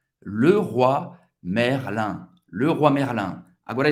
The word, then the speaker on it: Leroy: O Y em francês, o O-I tem a pronúncia do wa.